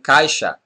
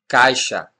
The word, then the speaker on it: caixa: This sound also happens after a diphthong, as in caixa, caixa.